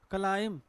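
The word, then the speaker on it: climb: क्या होगा देखिए, क्लाइम, जैसे बी क्या आपका साइलेंट है।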